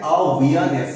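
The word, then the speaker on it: awareness: আমরা অ্যাওয়ারনেস বলি, র তো সাইলেন্ট থাকে, তোমরা ব্রিটিশ আরবিতে এটা জানো অলরেডি। এখানে অ্যাওয়ারনেস হবে, অ্যাওয়ারনেস হবে, অ্যাওয়ার আমি বারবার বলে ফেলছিলাম, অ্যাওয়ারনেস হবে, এই ডিপথংটা হবে কিন্তু, ঠিক আছে?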